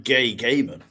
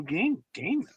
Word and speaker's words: Gaiman: No, you called him Gay Ga. So, no. Neil Gaiman. Neil Gay man.